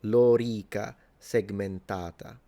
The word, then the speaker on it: lorica segmentata: precise phonemic vowel length, this vowel, the O and the E, are both long, so it's lorica, and then segmentata. So this A is long, so lorica segmentata is how you pronounce it.